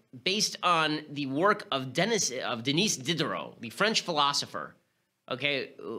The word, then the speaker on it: Denis: How would they pay tribute to, I'm going to call him Dennis because I'm American, but I guess it's pronounced Denis Diderot.